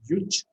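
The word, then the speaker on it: युज्: So in brief, we can say that simply it's a Sanskrit word which is pronounced as yuj, and yuj is actually what it means is actually to unite.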